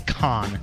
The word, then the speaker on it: Cannes: reference there you go S is silent although it is spelled CA in NES it's con yes unless you're raising